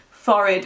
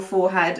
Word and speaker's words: forehead: it everywhere I go, if it's forehead or forehead, and they said it is indeed forehead. So I've been saying it wrong all my life.